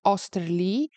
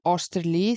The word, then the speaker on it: Oesterle: There was different versions of the pronunciation, but most of them come out to Osterlee, so I assume that is correct.